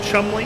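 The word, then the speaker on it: Cholmondeley: You remember the name Chumley? Oh yeah, let's not get that now. Cholman. Yeah, so the name is spelled Cholm. It's spelled out phonetically Cholmondili. That's how you would read it phonetically.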